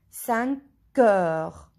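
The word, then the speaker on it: cinq heures: We listen K, 5 heures.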